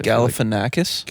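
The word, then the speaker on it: Galifianakis: I I've always said it right, but now that I'm on a podcast, Galifanakis.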